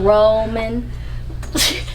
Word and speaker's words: Roman: I'm Roman.